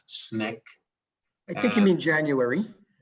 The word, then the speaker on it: SNCC: july which is called sncc pronounced snick i think you mean